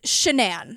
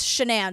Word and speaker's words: Shanann: It's not spelled like Shannon, right? But everyone else says Shanann. So I even wrote it not like Shannon because I was like, ADHD brain. You're going to say, you have to write it phonetically. So I'm going to go with Shanann because that's what, it's weird because it's what everyone calls her.